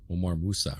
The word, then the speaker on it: Omar Mousa: Omar Mousa, right? Yes, sir. And that's okay. I got the pronunciation right.